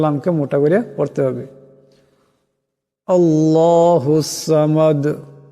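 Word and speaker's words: ٱللَّهُ ٱلصَّمَدُ: হবে কুলহু আল্লাহু আহাদ আল্লাহুস সামাদ আল্লাহ আওয়াজটা মোটা করে পড়তে হবে আল্লাহর লামকে মোটা করে পড়তে হবে আল্লাহুস সামাদ এখানে দাল সাকিন হয়ে যাবে আওয়াজটিতে ঝটকা আসবে কলকালা হবে আল্লাহুস সামাদ লাম ইয়ালিদ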